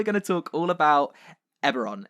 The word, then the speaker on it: Eberron: I always say... No, Aberon is right. I used to say Erebon.